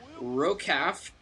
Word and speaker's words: ROKAF: This is going to be ROCAF, as I like to pronounce the acronym, because I do that.